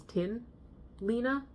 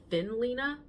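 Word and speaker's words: Tynn Line: Okay, so I've seen people pronounce this as tin Lena, but when I I did a little bit of research and I tried to figure out exactly how it's pronounced and according to what I looked what I found, there was like an Instagram post that said it's pronounced thin Lena, which makes sense because this is the thinner version of Lena.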